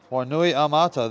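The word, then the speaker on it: Wainuiomata: Wainui Mata. Wainui Mata, that's how it's pronounced.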